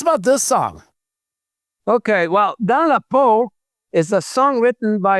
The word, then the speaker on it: Dans la peau: You're going to have to help me with the pronunciation again. The track, Dans la Peau?